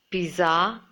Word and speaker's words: pizza: It's not pizza or pizza. It should be pizza with a T sound in the middle.